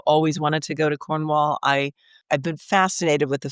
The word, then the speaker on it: Cornwall: And to bring that second syllable down into the deep recesses of your throat so you hardly say it. You sort of mumble it out.